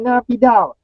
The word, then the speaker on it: Naypyidaw: Okey, ini adalah merupakan Rafiq tanya macam mana nak pronounce Naypyidaw. Macam tu lah, Naypyidaw.